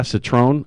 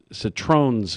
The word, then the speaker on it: Citrone: I was saying Citrones with an S, and I got corrected a couple times last week, so I'll make sure that from now on I pronounce it correct. It's Citron.